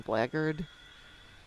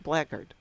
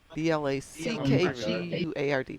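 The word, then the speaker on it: Blackguard: or black guard for those of you who want to be literal, pronounce every letter that's actually in the word, but we're not going to be picky like that.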